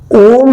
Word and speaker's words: ओम: ओम में ओ के बाद म का भी उच्चारण उतना होना चाहिए कि आपका पूरे फेस के ऊपर म के वाइब्रेशन को महसूस कर सके।